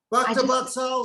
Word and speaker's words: Bhaktivedanta: Bhaktivedanta Sri Hari.